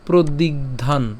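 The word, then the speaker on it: প্রদিগ্ধান্: হ্যাঁ ধান উচ্চারণা কিন্তু ধান কেন ওই হস চিহ্ন আছে সেজন্য ঠিক আছে তাহলে আমরা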